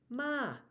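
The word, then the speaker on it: ม้า: Rising is uh dog ma High tone is a horse and there are many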